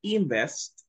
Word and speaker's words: invest: En lugar de invest. Es muy importante dónde va el acento en la palabra, right? En lugar de invest, el acento va en best.